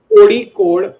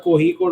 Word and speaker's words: Kozhikode: Okay, So so technically, it's Kodi code. So in Malayalam, ZHID. It's pronounced as ID. If I can make it more clear, so it's Kodi code. To be very honest, not Kohi code.